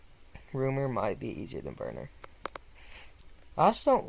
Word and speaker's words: Werner: I think his name's actually pronounced Werner, because he's German.